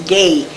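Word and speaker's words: Guay: bishod and my father's name is gay but they mined my name was g-u-a-y canadian g-u-a-y and misho was we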